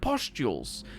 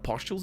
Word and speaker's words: pustules: Rising from the fungus at uneven intervals are fleshy nipple-like pustules. Actually, it's not pustules, it's pustules.